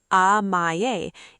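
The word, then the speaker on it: amae: Amaye, pronounced amaye, is a unique Japanese concept that describes the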